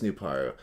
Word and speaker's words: Nuparu: canonically speaking canonically speaking his name is pronounced new power yeah nupar nuparu no it is nuparu i was just it